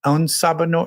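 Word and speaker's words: En Sabah Nur: En Sabah Noor. How do you say his name? En Sabah Noor.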